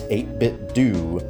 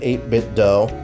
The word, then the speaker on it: 8BitDo: probably the most sense 8bit do 8bit do. Cuz if it was a if it was do, it would have like either H like Homer Simpson or it' be literally spelled like D O U G H or something. But that you don't get that right there. It's do. So 8bit, do not call it 8bit dough.